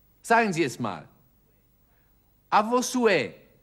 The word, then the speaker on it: À vos souhaits: Sie stellen fest, ich spreche das H nicht aus. Die französische Sprache kennt keinen H-Laut. Sagen Sie es mal. À vos souhaits. À vos souhaits.